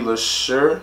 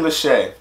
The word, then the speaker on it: Leshurr: to react to was Lady Lesure Lachey Lachey let me Lachey because that's what I told me that's how her pronunciation of her name is and I thank you